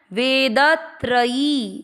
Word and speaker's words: वेदत्रयी: इसके बाद में वेद, वे को दीर्घ किया, द में अ का उच्चारण मिक्स किया, त्र में अ का उच्चारण, वेदत्रयी, य पर बड़ी की मात्रा।